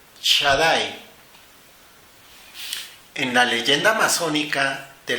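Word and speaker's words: Shaddai: nombre de tres letras sin Talent que se pronuncia Shadai en la leyenda amazónica de la construcción del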